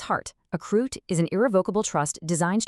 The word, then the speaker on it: CRUT: The charitable remainder unit trust or CUT and it's pronounced CRUT. At its heart, a croo is an irrevocable trust designed to accomplish two primary things.